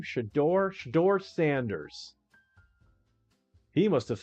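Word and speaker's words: Shedeur: How do you pronounce his first name? Shador.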